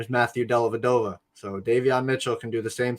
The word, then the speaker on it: Davion: uh uh uh uh it's Damian right Damien Mitchell for the Kings or Davion Davion not gonna get your name wrong again because you've been